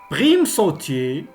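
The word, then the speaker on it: primesautier: Et comme vous remarquez, toujours le S ne se prononce pas Z, même s'il est entre deux voyelles.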